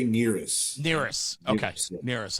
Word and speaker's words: NERIS: What do you say? NRIS? How do you say it? I say NERIS.